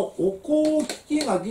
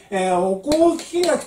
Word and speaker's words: 御講聞書: まあこのお香木垣っていうこの読み